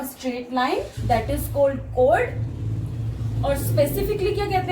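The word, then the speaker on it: chord: ये चोर्ड नहीं होता, कई स्टूडेंट्स को चोर्ड प्रोनाउंस करते हैं. This is कोड.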